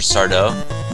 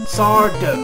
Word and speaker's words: Sardo: I was a kid remember Mr sardo sardo no Mr Accent on the D I wonder if this